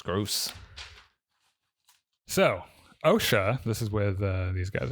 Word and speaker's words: Osha: So, OSHA, this is with these guys over here. Every time you say that, I think of OSHA, like the government organization.